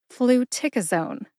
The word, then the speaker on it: fluticasone: you go put all four syllables together and you get flua Zone emphasize tick see if you can hear tick emphasized when I say it again flu tick aone what's my source for